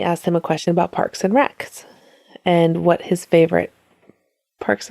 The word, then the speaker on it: Parks and Rec: But somebody asked him a question about Parks and Recs and what his favorite Parks and Recreation. You can say Parks and Rec, not Parks and Recs.